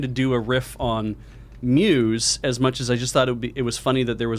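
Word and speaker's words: μ's: letter mu yes because his mu apostrophe s is pronounced muse and i need you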